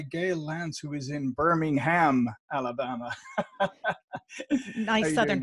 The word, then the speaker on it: Birmingham: Just to let the audience know, I did pronounce it Birmingham earlier, which is actually the English city. And being from Ireland, that's more natural pronunciation for me.